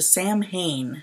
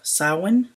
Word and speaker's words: Samhain: His name is a reference to Sam Hain, the popular mispronunciation of Samhain, the name of the original Celtic Halloween.